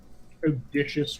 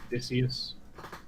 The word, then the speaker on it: Odysseus: slide rod has to be someone saying auditious rather than odysseus auditious is the worst sponsor i've ever heard let's see here uh i had someone argue with me that auditious was the proper pronunciation and i wanted to